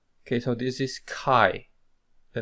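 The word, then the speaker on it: χ: as CH okay so uh here we should pronounce this as c k k co co Q Q okay so this is Kai the name the English name of this letter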